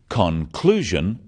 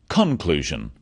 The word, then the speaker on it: conclusion: in words and sentences in words one syllable is stressed the wrong stress makes it hard to understand so conclusion not conclusion products not products even more important in